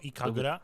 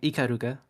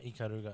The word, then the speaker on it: Ikaruga: with the katana oh iura can you say her name ikaruga yeah ikaruga oh I thought her I always thought her name was iura but yeah iar because